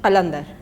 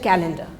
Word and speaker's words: Kalandar: Since they couldn't say Kalandar, they said calendar.